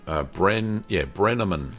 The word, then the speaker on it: Brenneman: The next photos are from Scott, and Scott says, Scott Brenneman, Brenneman, that's how you say it.